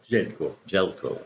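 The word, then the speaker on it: Željko: I'm not even going to try and pronounce Zeljeko Vazik. Jelko. Okay, yeah. Jelko. Thank you.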